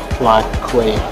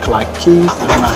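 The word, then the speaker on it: Clarke Quay: Now we are stopping at Clark Quay or Clark Keys. It depends on how you want to pronounce it.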